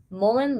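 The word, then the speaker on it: mullein: be helpful um you can also do the Mullen steam tint so let me just tell you quickly what it is two tablespoons of Mullen Leaf Mullen is spelled m-u-l-l-e-i-n Molen Leaf is an herb there's various ways you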